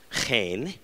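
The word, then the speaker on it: חן: This is, of course, the Hebrew word, which is hard to pronounce. It's chen.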